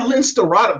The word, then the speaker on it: Lince Dorado: Oh, Lince Dorado. Yeah, Lince Dorado. That's how you pronounce it.